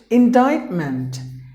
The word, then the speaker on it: indictment: And the next word is indictment. Indictment. 3 syllables, but the letter C is silent. Indictment. So sorry, the stress is here on the middle syllable.